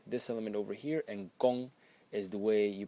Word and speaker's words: 功: way you pronounce this element over here and gong is the way you pronounce the character as a whole as well.